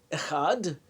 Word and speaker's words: Echad: Shema verse, Echad, one, elongating its pronunciation, like Echad, and emphasizing the letter Dalet, the D sound at the end.